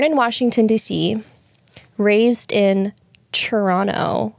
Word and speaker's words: Toronto: So, JP Saxe, born in Washington, D.C., raised in Toronto. I learned that that's how you actually pronounce Toronto. That's how, like, the locals say it.